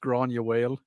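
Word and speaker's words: Gráinne Mhaol: Grain Uel, the movie. How do I actually pronounce that? That's pronounced Grania Whale.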